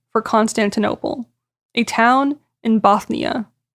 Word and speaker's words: Bothnia: Constantinople, a town in Bothnia. I wasn't saying that with a lisp, it's not Bosnia, it's spelled Bothnia, just FYI.